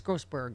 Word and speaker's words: Grossberg: Because they obviously didn't turn over the Abby, it's Grossberg, right? I kept saying it wrong yesterday. Yes, Abby Grossberg.